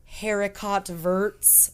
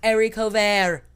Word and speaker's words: haricot vert: It looks like they're spelled haricot verts, but it's pronounced haricot vert.